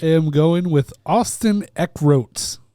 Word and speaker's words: Eckroat: I am going with Austin Eckroat because it sounds like Eckert, which is my buddy John Eckert.